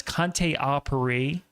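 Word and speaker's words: Conté à Paris: So again, that's Conte Apiri for and it is spelled Conte a Paris.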